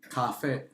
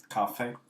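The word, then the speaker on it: 咖啡: My dad's really into his You know how you say coffee in Mandarin? Cafe. Cafe. Very good.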